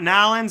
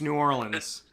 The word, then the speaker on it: New Orleans: he said it's not nolan's it's not new orleans it's new orleans okay so i think